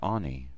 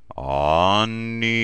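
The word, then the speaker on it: אני: The first breath is Ani. Ani.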